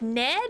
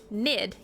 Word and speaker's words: Nid: Everybody's like, "Ned." I'm like, "No, not Ned. Nid."